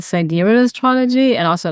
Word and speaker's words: sidereal: I don't know what the right way is. I say cidurial but if you feel called to call it side reel I think that's that's fine.